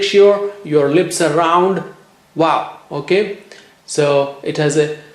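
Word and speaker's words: واو: Well, how do you say Waw? You say it with your lips, with round lips. Wow.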